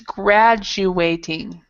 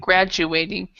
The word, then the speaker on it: graduating: of tricky but it's gradu ating so it's a there's a Jew here graduating and be be careful to pronounce the d graduating okay thank you